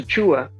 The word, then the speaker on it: Achiuwa: the progression for the raptor's future with precious chua i said it right this time yeah that's